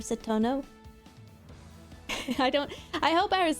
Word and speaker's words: Satono: I always read her name as Satano instead of Satono.